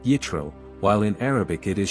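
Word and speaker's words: יתרו: the land of Midian his name in Hebrew is pronounced yitro while in Arabic it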